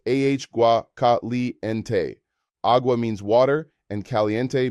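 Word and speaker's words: agua: Hot water is aua caliente pronounced ah gua.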